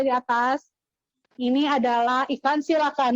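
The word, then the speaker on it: coelacanth: Ini adalah ikan silakan. Nulisnya coelakan tapi dibacanya silakan.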